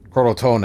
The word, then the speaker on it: Crotone: Oh, no, I'm mispronouncing it. Never mind. Crotone, it's Italian.